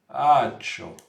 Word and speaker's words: ačiū: But it's spelled in a, let's just say very different way. So it's spelled like ACIU or UI or something. But it's pronounced ačiū.